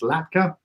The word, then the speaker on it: latkes: a latke or latkes you know it's pronounced l-a-t-k-e-s latka um the chinese new